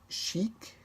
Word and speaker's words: chic: A letter C, R, F, or L at the end of the word usually is pronounced.